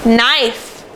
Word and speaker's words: knife: So first of all, I want to see if anyone remembers, what sound does KN make? It makes the sound. Let's read some words quickly that have the sound spelled K-N.